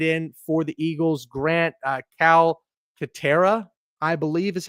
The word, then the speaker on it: Calcaterra: This is the backup tight end for the Eagles, Grant Calcaterra, I believe is how you pronounce his last name.